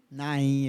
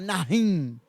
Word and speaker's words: Naim: Nahim? Naim? Naim. Eu ia falar Nahim. É porque eu falo em hebraico, tá?